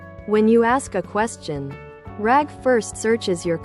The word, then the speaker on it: RAG: This is where rag, pronounced rag, which stands for asterisk retrieval a asterisk augmented generation, comes in.